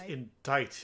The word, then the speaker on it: indict: The defense moves to indict Miss Adrian Andrews in the murder of Juan Carita. It's pronounced Indict.